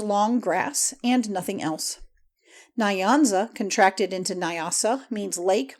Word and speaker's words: Nyanza: The N and Y are joined in the mouth and never pronounced separately. The Nyanza, it would be nearer the mark to say the Nancy.